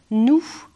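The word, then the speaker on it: noues: Et ce mot auquel je me suis suspendue, c'est le quasi-homonyme de notre pronom, mais il s'écrit autrement, c'est le mot « nous », N-O-U-E-S.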